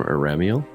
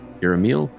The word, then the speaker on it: Iramiel: These dreams that people are having in the city, are they coming from Iramiel? Iramiel? I always say it wrong. She said, you had it so good the first time.